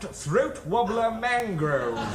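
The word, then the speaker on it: Raymond Luxury-Yacht: No, it's spelt Raymond Luxury Yacht, but it's pronounced Throat Wobbler Mangrove.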